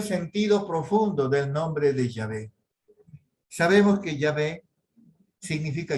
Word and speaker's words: Yahvé: tomó la decisión de usar la pronunciación original de yahvé en mes de jehova cuando tuvo el problema de las traducciones o martín lutero y sus seguidores y porque los israelitas del tiempo de moisés para adelante nunca dijeron nunca pronunciaron jehová como el nombre de dios sino con muchas